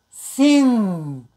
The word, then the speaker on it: sing: As in sing, sing, sing, okay? Sometimes you may hear slightly, but basically you don't hear the G sound clearly. You pronounce G sound through your nose.